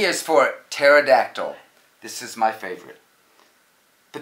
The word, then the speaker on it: pterodactyl: I've got that one right P is for pterodactyl this is my favorite the tamale the psychic